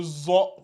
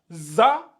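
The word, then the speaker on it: ظاء: différence entre les deux lui c'est c'est le zo donc attention à ne pas les confondre les deux ils sont très différents si vous lisez ça za et lui za c'est faux il faut qu'il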